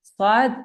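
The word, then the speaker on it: ص: The difference is that swad is pronounced with part of the tongue just after the tip of the tongue moves towards the inner blades of the upper incissors.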